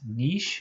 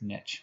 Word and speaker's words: niche: It's called the niche. If you, in French, it would be pronounced niche, but I use the Anglo pronunciation, so it's niche, okay?